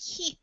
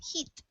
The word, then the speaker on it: heat: reading good job and this word it has a long e sound so it's like heat heat heat yeah so the a is kind of Silent um in English they have a lot of silent letters okay yeah nice job